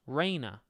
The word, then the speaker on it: Reina: It's pronounced Reina. Oh, like Cana.